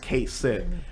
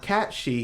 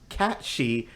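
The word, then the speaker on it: Cait Sith: yeah his name for the longest time is pronounced Kate sit what if I told you his name is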